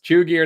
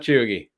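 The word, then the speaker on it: chuegy: gas station cargo shorts chew gear not chewy not chugi oh really all right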